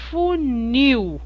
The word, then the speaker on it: funil: pronunciar a palavra funil nós damos muito mais ênfase a esta sílaba funil o Nil é muito mais forte que o u eu não falo funil